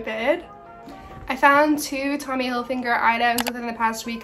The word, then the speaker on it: Hilfiger: this whole video and it's actually Tommy Hilfiger, no N. It's like a habit I got into because I didn't realize it didn't have an N in it and now here I am saying it wrong.